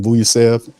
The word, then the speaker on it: Vucevic: In Ayton and Wendell and how you pronounce his name? Vucevic.